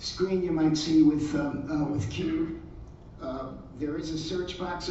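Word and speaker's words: QEWD: Okay, the next one I'm going to talk about is called, I believe this is pronounced Qwd. This is a fairly recent one. It's spelled Q-E-W-D.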